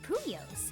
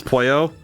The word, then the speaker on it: Puyo: Still able to battle even though he was using blocks instead of puyos. She says puyos and I I I keep thinking it's my brain pronounced it as pouyo. It's puyo. That sounds wrong.